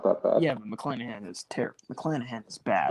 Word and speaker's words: McClanahan: McClanahan? McClanahan.